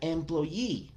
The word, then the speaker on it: employee: jefe boss, o my employee, que es el término más técnico. Employee refiriéndose a la persona que me da el empleo. Employee, empleador. La terminación doble E generalmente suena como una I, ¿vale?